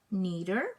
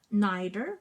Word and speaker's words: neither: Okay, so there are two pronunciations. It's either you say neither, which is more American English, or neither, which is British. Okay, and both of these are correct.